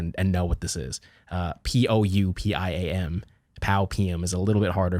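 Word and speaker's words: Pou: I mean, my name is Pow, right? And I spell it P-O-U.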